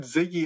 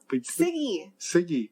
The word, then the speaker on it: Siggy: No, you said Ziggy again. Siggy. Siggy.